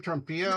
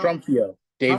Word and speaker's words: Trumfio: How do you say your name? Trumpio. Trumfio, Dave Trumfio. Trumfio. Yeah, I'm Yeah, giving the accent on the wrong one.